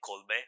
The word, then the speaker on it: Colbert: so they named somehow made an acronym which spelled like Colbear which is Colbert to be on TV but